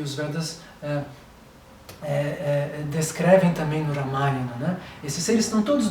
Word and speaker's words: Ramayana: Olha, na verdade você vai encontrar algo no Ramayana, né? Ou no Ramayana, que é a pronúncia que eles falam na Índia, né?